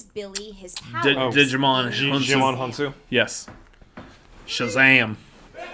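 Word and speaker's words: Djimon Hounsou: wizards who gives Billy his did your mana Djimon Honsou yes Shazam say my name Gemma Honsou that is correct putting on DC you has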